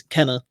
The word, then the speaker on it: Kena: get to talk about is it kana or kina or do we know i actually uh i had a brilliant experience five seconds ago i was like i'm going to google how to pronounce it because otherwise i'll be saying it's keema the whole time it is kenner um so okay cannabis